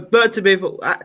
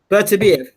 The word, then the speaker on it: Beterbiev: So Bertabiv. So pronouncing that, I never get his name right. I got to get this man's name right. Beterbiev.